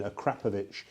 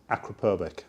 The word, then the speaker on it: Akrapovic: That's the correct pronunciation, Akrapovic. But everybody in the UK, everybody says Akrapovic or Acro. Everybody does. But the correct pronunciation is Akrapovic.